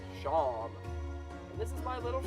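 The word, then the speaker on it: Seam: The name Shawn, pronounced Shawn.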